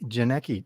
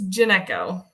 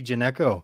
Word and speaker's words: Janecko: is that the Cur is that the correct correct pronunciation it's janeko geneco janeco and as you're watching this